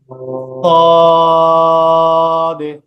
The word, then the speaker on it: صاد: সদ। সদ সদ। সদ সদ। সদ صاد সদ। صاد সদ। صاد কিছুটা সিনের মতো উচ্চারণটা হবে এভাবে।